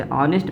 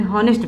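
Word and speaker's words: honest: या आप फिर इसे हॉनेस्ट पढ़ेंगे। अगर आप इसको हॉनेस्ट पढ़ रहे हैं बच्चे तो ये क्या है, ये गलत है, इसका सही प्रोनाउंसिएशन क्या होगा, ऑनेस्ट होगा। तो जब ऑनेस्ट होगा प्यारे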